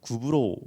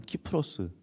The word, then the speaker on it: 키프로스: 시딤섬, 이 신약에서는 이제 시딤섬을 구브로 섬이라고 합니다. 구브로 말 많이 들어보셨죠? 요즘 말대로, 요즘 발음대로 하면은 키프로스 섬입니다.